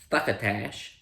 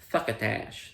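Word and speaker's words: succotash: Thuckotach. Suckatash. There we are. That's That's how we're supposed to say.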